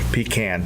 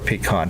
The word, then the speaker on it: pecan: and they have wonderful pecan pie or pecan pie depending on how you say it and great breakfast too